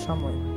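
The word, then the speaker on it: Cholmondeley: weird to me that charlemagne is pronounced chumley okay addie yes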